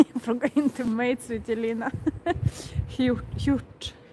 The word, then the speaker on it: hjort: Hjort. Man ska inte säga sj där.